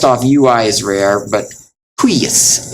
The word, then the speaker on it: huius: And then last off, UI is rare, but huius, it's like gooey. Huius, but even this, it sounds like a short U and then a long I.